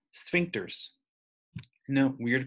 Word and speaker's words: sphincter: They are called sphincters. No, weird to pronounce, sphincter.